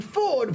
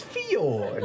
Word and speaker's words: Fjord: you mispronounced your name Ford when we all know it's Fjord.